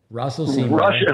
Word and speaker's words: Russell Seymour: Russell Seymour.